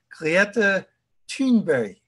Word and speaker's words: Greta Thunberg: Extinction Rebellion, Greta, actually the way she says her name is Greta Thunberg. That's mm-hmm. my understanding of how she pronounces her name.